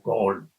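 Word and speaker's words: Galle: Se escribe gale. Ellos lo se pronuncian como col.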